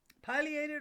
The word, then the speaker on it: pileated: divided into syllables reads p i l e a t e d since that first syllable ends with a vowel according to the rules of phonics it should be pronounced as a long i so pi and thus